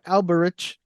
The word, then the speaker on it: Alberich: The ch in Alberich is pronounced k.